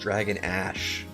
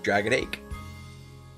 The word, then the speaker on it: Dragon Ash: and smile cave instantly it's pronounced Dragon Ash oh okay foreign see the way it looked I was like oh Dragon egg I said Your Dragon aches like uh like a